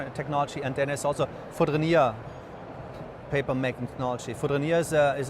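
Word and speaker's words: Fourdrinier: Foudrinier.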